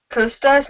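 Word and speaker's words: Kostas: very confused about Co how do you pronounce his name Co Costas Costas is what they say in the movie so this um so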